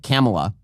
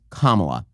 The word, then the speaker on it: Kamala: You're not allowed to pronounce it Camela. You're not allowed to pronounce it Camala. You're not allowed to pronounce it Kamala. It's Kamala.